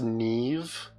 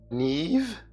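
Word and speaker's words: Niamh: are fun it's pronounced Neeve Neeve where's the V come from your handmade eay has a GC issue that sounds like a skill issue it's a Celtic thing oh okay my bad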